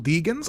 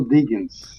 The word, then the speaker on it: Degens: got your name r Is It uh yes if it's pronounced deggans degin okay fantastic thank you